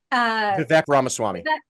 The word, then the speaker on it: Vivek Ramaswamy: So, And Elon and how do you pronounce it? Vivek Ramaswamy.